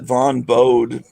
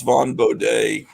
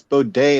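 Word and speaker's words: Bodē: i got this vaughn i used to pronounce it von bode but i think it's von bowday yeah just the wrong way it's boday and i went to an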